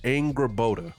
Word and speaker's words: Angrboda: So it's pronounced Angrboda.